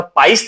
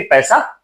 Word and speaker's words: पाइस: लेकिन सही मायने में वो पैसा नहीं बल्कि पाइस जो पहला वाला उसका उच्चारण जो है पाइस था लेकिन लोग उसे भी पैसा कह देते थे।